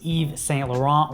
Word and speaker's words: Yves Saint Laurent: have YSL which is pronounced differently than it's spelled I was butcher it but it's Yves Saint Laurent which is a French